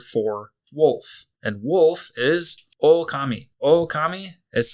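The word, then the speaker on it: おおかみ: And wolf is okami. Okami is spelled o k a m i.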